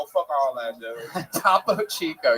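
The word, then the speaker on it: Topo Chico: Or Top Chico. all that, dude. Tapo Chico. Yes, that is exactly how that's pronounced. Don't ever change it.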